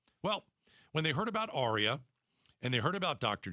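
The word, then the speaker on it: Aria: Arya is spelled A R I A.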